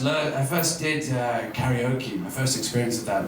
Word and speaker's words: karaoke: Where is Oh, another word that people don't like is karaoke. But I prefer karaoke because the Japanese pronunciation is koke.